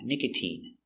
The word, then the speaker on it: nicotine: But you have words like nicotine where the sound is E, a long E sound, nicotine.